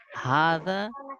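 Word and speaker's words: هذا: adjust করছে সেটা হচ্ছে হাদা ইজ প্রোনাউন্স হাদা এর উচ্চারণ হাদা এর উচ্চারণ হবে হাদা হাতে আমরা টান দিব আমি বলেছিলাম হাতে আমি এক আলিফ টান দিয়ে পড়বো হাদা বাট ইট is written without the fast আলিফ কিন্তু এখানে লিখতে গেলে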